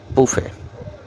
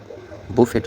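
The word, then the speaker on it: buffet: না shuttle subtle ballot উচ্চারণ হবে বালে বুফে বুফেট উচ্চারণ হবে না বুফে উচ্চারণ সাইলেন্ট থাকবে বুফে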